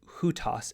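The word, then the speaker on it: οὗτος: because it's how so both hutas and how the nominative singular has that rough breathing Mark that H HH sound at the beginning hutas and how it's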